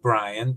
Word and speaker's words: Bryann: Uh I know you pronounce it Brian, but can you tell us a little bit more about your name?